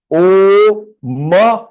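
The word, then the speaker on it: ओम्: Devanagari is ओ म half. तो म half how डू you pronounce? So इट is pronounce as ओम. ओम. ओम. ओ प्लुत. O half म. तो ओम. ओम.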